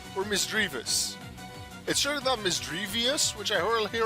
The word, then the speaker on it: Misdreavus: that is mysterious or misgrievous because it's either like miss and it's either the three part d or e a part it's either dread or dream which can both work for the pokemon which makes it mister